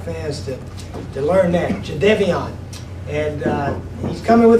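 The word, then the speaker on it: Jadeveon: us jadeon right Co johnon was the correct pronunciation so we want the Gamecock fans to to learn that Jade Devon and uh he's coming with the Gamecocks we've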